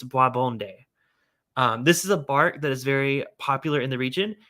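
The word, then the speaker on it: bois bandé: to butcher the pronunciation, Boisbonde. Boisbonde. It's spelled Boisbande. And yes, I did watch up a pronunciation video on how to pronounce that, and I believe it's Boisbonde.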